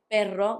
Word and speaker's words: perro: You would try to make that R a bit harder with perro when you mean a dog than when you mean pero. Just know that when you want the R to sound strong, to sound rolled between two vowels, you put double R.